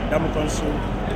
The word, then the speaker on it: Ndamukong Suh: I'm live right here with a top rugby homeboy, Ndamukong Suh, doing it big not only in Nebraska, but also in Cameroon as well.